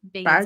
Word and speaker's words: Baggins: Yeah, he pronounces his name Baggins.